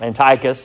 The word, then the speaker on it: Antiochus: Even leading priests in the temple turned as traitors and supported Antiochus, or Antiochus, sometimes it's pronounced.